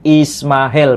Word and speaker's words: Ismail: Ismail, ini cara bacanya Ismail Pak Edi. Huruf S itu seperti huruf F. Ya. Ismail Fili Abraham Aquo Ismaelit Quinux Corrupto Nomine Sarakeni Quasi Asara. Nah, di sini jelas kan? Saya ulangi lagi. Ismail Fili Abrahama Qui Ismaelit.